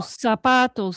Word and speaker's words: zapato: Sapo with an S, zapato with a Z. It's pronounced like an S.